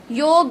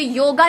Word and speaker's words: योग: नहीं आएगी बोलते समय, योग होगा, पूरा ग। ये सही मीनिंग है। तो अगर स्पेलिंग YOGA है तो ये योगा नहीं है, योग है।